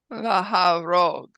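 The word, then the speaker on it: להרוג: Now we have a hataf patah under the he. That means it is pronounced like a patah, an ah, but it's unaccented. So let's do it one more time. Unaccented.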